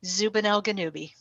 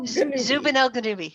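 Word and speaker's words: Zubenelgenubi: to the name of zubanelganubi it sounds kind of like obi-wan kenobi but messed up zoopy one zooby no zubanelkadumi yes did i get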